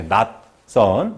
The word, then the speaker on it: 낯선: 저흰 소리로 표현이 되는 거죠 그래서 올바른 표준 발음은 이렇게 낙선 이렇게 되겠죠 그러면 여기에 나와 있는 것은 뭐